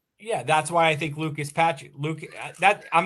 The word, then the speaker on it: Lucas Patrick: Yeah, that's why I think Lucas Patrick. I'm not getting his name wrong, right? Lucas Patrick.